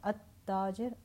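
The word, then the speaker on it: التاجر: Remember that when there is a Shamsi letter, I do not pronounce the al. The alam gets assimilated with the Shamsi letter. At-tajir, ad-dukkan.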